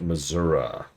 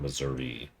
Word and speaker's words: Missouri: Yeah, I would tend to agree, but uh it was drilled into me that it's pronounced Missouri, not Missouri, by people who live there, if it's not obvious.